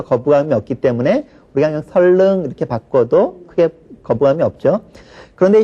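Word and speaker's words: 선릉: 마찬가지로 선 니은과 리을이 연결됐으니까 니은을은 리을로 교체해서 발음하는 것이 원칙이겠죠. 그러니까 설능이 표준 발음이 맞습니다.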